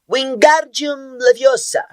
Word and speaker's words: Wingardium Leviosa: como Paz de Moinho você está dizendo feitiço errado har viu herm corrigir aborrecida wiard bem pronunciado e longo diz você então que